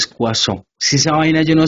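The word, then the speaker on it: Poisson: No se pronuncia poison, se pronuncia cuazo. Profe, pero ¿por qué si ahí dice poison? Sí, yo lo sé, pero se pronuncia cuazón.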